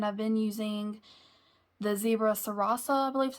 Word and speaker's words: Sarasa: I think, and I've been using the Zebra Sarasa, I believe is how you say it, one of the vintage collections that you can get on Amazon.